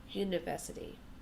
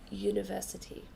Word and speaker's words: university: Therefore, we don't say an university, we say a university. Okay? In some languages, this sound would be a university, but in English, we pronounce it with a Y sound, a university.